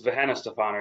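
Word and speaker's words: Weihenstephan: And it's how you pronounce that? It's Venna Stefan.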